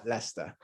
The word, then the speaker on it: Leicester: actually pronounced lester so you can really ignore the i the c and the e and basically just use l e s t e r leicester and leicester is very